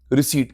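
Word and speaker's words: receipt: एंटीिसिपेटेड plan estimated रिसीप्ट कोई बच्चा रिसीप्ट नहीं बोलेगा पी साइलेंट होता है रिसीप्ट नहीं रिसीप्ट क्या रिसीप्ट रिसीप्ट रिसीप्ट रिसीप्ट रिसीप्ट आने वाला खर्चा खर्चा इसके दो टाइप होते हैं।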